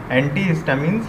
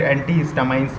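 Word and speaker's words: antihistamines: एंटीहिस्टामिन्स या फिर एंटीहिस्टामाइंस भी प्रोनाउंसिएशन किया जाता है इसका.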